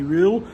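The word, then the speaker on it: Röhl: Just uh getting ready to go in for the unveiling of new manager Danny Rule, as I'm told it's pronounced.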